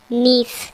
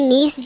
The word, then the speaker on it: gneiss: सही आंसर है option D नीस। Friends, आपको इंग्लिश में वर्ड भी याद रखना है, इसकी स्पेलिंग है GNEISS, जिसमें जी साइलेंट है, यानी नीस जो है, जब ग्रेफाइट चट्टानें रूपांतरित होती है तो उनसे बनता है नीस।